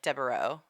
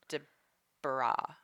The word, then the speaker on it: Deburau: Well, because people pronounce it wrong all the time. And like they say like Deburau. Oh. And it's Deborah.